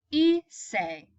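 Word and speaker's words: hice: Issei not Pais okay II say the H is silent e say you say y'all practice anat ec stay ezel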